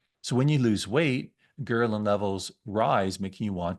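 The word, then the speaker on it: ghrelin: in your body there's another hormone called gerin and that's how you pronounce it I checked multiple times uh which tells your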